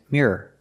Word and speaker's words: mirror: you hear the difference I'll say it again the first word is mirror the second word is mirror the second one has two syllables no matter how fast you say it example the mirror is